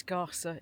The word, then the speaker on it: Skärså: It's Skärså. It's spelled like that, but um it's a traditional fishing village.